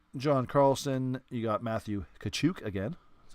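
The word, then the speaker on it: Tkachuk: You got Matthew Kachuk again.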